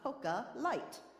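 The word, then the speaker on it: Coca Light: and down that she ordered a cocoa light which is the correct way to say d Coke in Spanish but that is obviously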